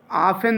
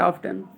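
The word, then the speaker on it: often: ठीक है, ऑफन दिया किताब में, टी साइलेंट है। ठीक है, नॉट ऑफ्टन, ऑफन। ठीक है, यफ के बाद टी आता है कभी भी तो साइलेंट होता है, बीच में आता है।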